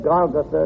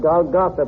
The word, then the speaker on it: Golgotha: He said, Golgotha, not Golgotha, please. Please don't pronounce Golgotha.